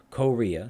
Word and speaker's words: Korea: be ca rhea so korea so korea korea korea korea i place it on the second syllable okay there are rules